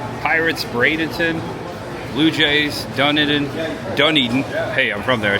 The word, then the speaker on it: Dunedin: Blue Jays, Dunedin Dunedin.